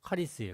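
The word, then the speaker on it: χάρις: 카리스인데 카가 아니고 카카이 그 발음이 좀 힘들어요. 카리스예요.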